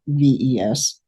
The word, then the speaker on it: Cywes: Robert Cywes at Cywes, even though he pronounces it VES.